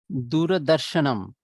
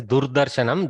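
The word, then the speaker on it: दूरदर्शनम्: Be very careful. Don't pronounce it as Durdarshanam. Durdarshanam means bad display, which sometimes it may be. But Duradarshanam, from Durat Darshayati iti Duradarshanam, that which shows from afar.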